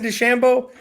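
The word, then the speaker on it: DeChambeau: Shambo oh that's how you say it Bryson Des Shambo Bryson Des Shambo he's got a YouTube channel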